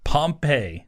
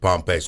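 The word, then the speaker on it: Pompy: kid looks pretty good pompe I believe is how you say it p o m p y uh he's he was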